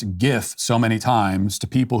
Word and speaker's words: GIF: for so the first word is Graphics Graphics gif that's it that's the end of the conversation I I've heard people like well the the guy who invented the GIF he says that's pronounced Jiff I don't know if that's true or not